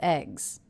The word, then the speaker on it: eggs: do have eggs also the plural ending here s is pronounced as a Z that's because the sound before the G sound is a voiced consonant eggs eggs let's listen